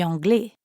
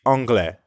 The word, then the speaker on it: anglais: Je suis anglais. Notice how the ending of anglais is very similar to français. Both are masculine, and although they both end with an S, you don't pronounce it.